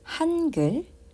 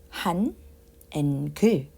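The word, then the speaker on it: 한글: So, since Hangul is pronounced as two-syllable, Han and Gul, so which means we need two syllable boxes, right?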